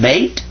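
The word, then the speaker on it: بيت: Is that bait?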